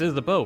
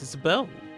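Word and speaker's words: Isabeau: understand this every I like to pronounce it as isab so that I can make jokes in my head about how isab isab isab that's what I thought about too like uh like like a pun like is a beauty that's what I thought isab be's name was but no it's pronounced isab bow for some reason they missed out on a wonderful joke opportunity but no it's is bow all righty that's a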